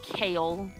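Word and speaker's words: Cale: But yeah, I was playing a Kitsune called Kale. Which was like spelled like C-A-L-E because I didn't want to be like spelled like the vegetable.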